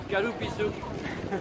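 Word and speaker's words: カルピス: Le melon de panne et le kalupisu. Comment tu prononces? Kalupisu.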